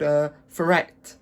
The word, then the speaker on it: Taweret: just like oh, that hippo, it's actually called Taweret. I think that's how you pronounce it.